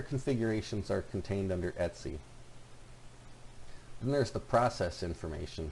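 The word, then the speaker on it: etc: are primarily stored under the DTC directory and that's pronounced etsy so this will have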